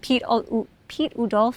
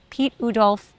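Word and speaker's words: Piet Oudolf: planting and meadow planting, Pete Udolf, I'm not sure I'm saying his name right, Pete Udolf, I think is how you say it, does really beautiful perennial gardens.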